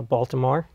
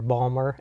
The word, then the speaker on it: Baltimore: was born in uh Baltimore or Balmer as as they say it uh and when I